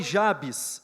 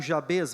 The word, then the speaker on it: Jabes: 1 Crônicas capítulo 4, versículo 9 e 10 diz assim: Foi Jabes, ou Jabez, vai depender, né, da sua pronúncia, mas eu opto por Jabes, tá bem?